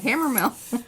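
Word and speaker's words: Hammermill: Mill right Hammer yeah you got it right Hammer Mill yeah and I doubt myself because I've said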